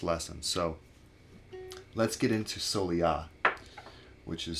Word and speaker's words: Soleá: of the first lesson so let's get into solya which is spelled s-o-l-e-a with a accent over the a and basically